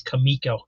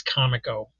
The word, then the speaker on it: Comico: Pray to keep hearing more and more people pronounce this Kamiko. That is not correct. I'm sorry. It is como.